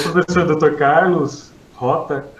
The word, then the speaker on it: Hotta: Carlos Rota, é essa a pronúncia, né?